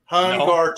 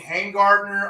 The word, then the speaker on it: Hungarter: It's not that hard to say, Hungarter. No. It's how it's pronounced. Right. But you don't know how many people murder that. Maybe it's 9 letters. It's two things. I've seen Hangardner. I've seen Humgardner.